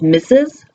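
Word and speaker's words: Mrs: We also have “M” “R” “S” which we pronounce as .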